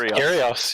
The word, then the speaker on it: Kyrgios: Just Kyrgios, yeah.